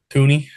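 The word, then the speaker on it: Thuney: And then, of course, the Bears traded for Two Joe guards, Tunney. Is that how you say it? Tooney, Joe Tooney.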